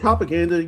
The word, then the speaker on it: Copaganda: So, is it Copaganda? Yeah. that's what it is. Copacabana. Copacabana. Yeah. Yeah, cuz it would rhyme with Copacabana, but there's a C there, yeah.